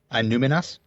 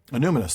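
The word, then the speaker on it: Annúminas: I always get the stress on the wrong syllable on this word. Anuminas? Anuminous.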